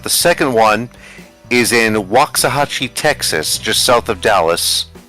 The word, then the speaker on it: Waxahachie: I don't know if the original is still standing, but the second one is in Waxahachie, Texas, just south of Dallas.